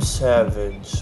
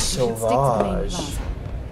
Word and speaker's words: Sauvage: Madam Savage. Okay. Oh, I said it wrong. It's Sauvage. Unless you like getting soaked by the rain.